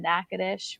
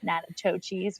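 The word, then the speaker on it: Natchitoches: had a trip to nakadish which was a lot of fun um i now know how to pronounce it it's not natachi's which is what i had originally thought so i had a lot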